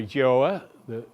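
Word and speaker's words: Gjoa: and it's a painting of the joah that's spelled GJ Oh a but that won't be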